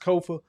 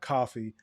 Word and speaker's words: Kofa: Again, I have been your humble host, Kofa, K-O-F-A, not coffee, not, not Kofi, or any variation thereof. Kofa rhymes with sofa.